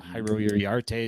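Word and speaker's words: Jairo Iriarte: um uh Jake eater's gonna be there uh hyro yarte is gonna be there that's how you say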